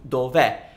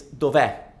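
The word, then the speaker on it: dov'è: too many vowels so we shorten it to Dover but because you're trying to pronounce the verb e is it's pronounced e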